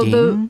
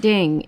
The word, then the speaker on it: Din: And then they rolled with that, and I was like, are they saying So ding? it's not ding. It's No. His nickname is Din.